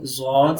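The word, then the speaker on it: ضاد: Some people are pronouncing this letter Dod. So this is not Dod. This is Zod. Okay. Side of the tongue touches molars. Upper side molar. Okay. Our molar. So side of the tongue touches upper molar.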